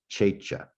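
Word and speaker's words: Csécse: It's pretty hard to read, but using CS and ending in SE and looking through towns in Hungary, it turns out it's CSE, CSE. Checha is how it's said.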